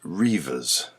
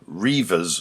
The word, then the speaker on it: Redvers: He probably pronounced it Reivers.